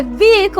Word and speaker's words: vehicle: Now it's because we're pronouncing my vehicle. I have what? Vehicle. Vehicle. Now the full stop there. I have V, the break, and then vehicle.